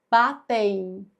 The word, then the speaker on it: batem: Só que em embatem o som é o seguinte, batem. Esse M fica com som de i. Então isso aqui, ó, é um ditongo. Olha que interessante, porque batem tem som de i esse M.